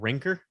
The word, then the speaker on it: Rancor: It would be really cool to get a bumper sticker that says my other ride is a Rancor. Wouldn't that You pronounce it ranker. Show Freddy ranker.